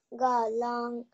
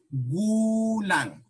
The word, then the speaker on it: Gulang: Ilang taong galang ka na? Okay, hold on. Always remember this when you're reading Tagalog, not in English pronunciation. Gulang.